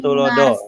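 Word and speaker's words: tuladha: Cuman bacanya do ya. Iya. ya itu Nggak pakai N, ingarsa. Pak. Oh ya, ingarsa sung tuloda. Sung tulodo gitu.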